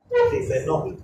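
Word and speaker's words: Tiffeneau: Tifenol, se lee tifenol.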